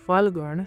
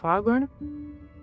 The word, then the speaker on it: Phalgun: all the way to Phalgun, sometimes, it’s also popularly pronounced as Phagun, I thought it might